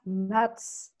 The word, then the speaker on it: Nuyts: And my name is Linda Nuyts. It's spelled N-U-Y-T-S. Yes, and it's very difficult in English to say that. It's not just the English nuts. It's not that.